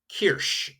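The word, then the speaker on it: Kirsch: The s c is more of that shh sound. So even though you have that ch, it's a shh. So cherry is k. Kirch is a cherry.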